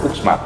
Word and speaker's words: Uxmal: Ok, il prossimo non so se lo so pronunciare bene. Uxmal? Uxmal, certo, come avrei detto io.